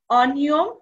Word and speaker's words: অনিয়ম: পরিবর্তন হবে না যেমন অনিয়ম এখানে অনিয়মে হবে অ এর উচ্চারণ অই হবে অদূর অদূরী হবে এরপরে